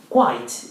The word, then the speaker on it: quite: Quite is Q-U-I-T-E, quite, and we pronounce quite and not quiet.